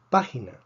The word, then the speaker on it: página: Página tiene 3 sílabas. Termina en vocal. Esperamos que el acento esté en la penúltima sílaba. No está en la penúltima sílaba, está en la antepenúltima sílaba. Por lo tanto, escribimos un acento de excepción.